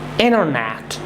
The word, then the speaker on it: Internet: Internet. Interview. So whenever T comes and there is N, okay, here is T and here is N, so then what happens? You have to make this silent.